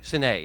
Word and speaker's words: Sinai: Sinai is the actual Hebrew pronunciation, but I'll use Sinai intermittently because most people are familiar with that pronunciation.